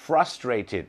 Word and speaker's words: frustrated: นั่น เอง นะ ครับ frustrated และ ต้อง มี ิ ด้วย เพรา คือ Ed จะ ออก เสียง ิด กับ ดิ เท่า นั้น นะ ครับ frustrated คือ